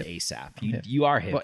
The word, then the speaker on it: A$AP: Yes, the S is a dollar sign, but still pronounced A$AP.